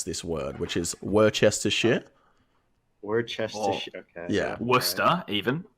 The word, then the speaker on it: Worcestershire: So just to preface this video, this old Italian man does not know how to pronounce this word, which is Worcestershire.